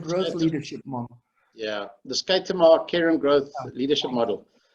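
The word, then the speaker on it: Schuitema: of this, so I might not get the pronunciation right, Shitama Care and Growth Leadership Model? Yeah, the Skaitama Care and Growth Leadership Model.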